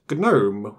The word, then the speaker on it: GNOME: is a desktop and is pronounced gnob with a hard g at the beginning oh got to love